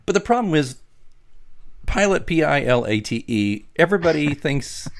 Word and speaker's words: Pilate: be helpful, it's pronounced, and there's a little pronunciation key. Pilate, yeah.